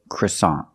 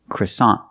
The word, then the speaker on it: croissant: say Quant that's French in English American English we say croissant croissant the first vowel is a short sound uh CR CR CR CR CR CR CR the second syllable is ah like hot and stop so together CA croissant croissant is the American pronunciation of this word we see with the NT at the end the te is a stop te we don't say croissant